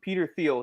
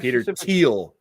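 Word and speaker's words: Thiel: uh when Trump got elected uh what's his Peter Theal he he said Peter Teal pronounce it right sir.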